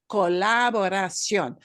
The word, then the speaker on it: colaboración: And which one do you punch harder? Well, that accent mark just tells you, yeah, you punch the O harder at the end, harder than the other syllables.